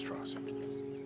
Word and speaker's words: Strauss: It's pronounced Strauss. Strauss?